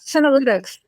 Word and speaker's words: senolytics: So am I pronouncing it correctly? Yeah, senolytics.